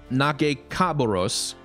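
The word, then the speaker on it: Nagakabouros: the bearded lady or knock a cabarrus I think is the correct pronunciation which is allow ease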